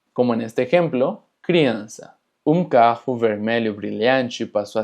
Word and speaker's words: criança: Ahora, seguramente te percataste de la cecilia, que realmente no tiene mucho chiste, se pronuncia exactamente igual que una S. Como en este ejemplo, criança.